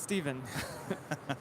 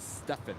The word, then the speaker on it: Stephen: I was going to say, I'm pretty sure it's pronounced Steven.